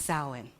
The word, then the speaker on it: Samhain: So it looks different, but it's actually pronounced Samhain.